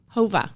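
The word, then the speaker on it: Whova: wanting this one and okay what was the pronunciation and spelling of the app again Hova W OVA so when you register you'll have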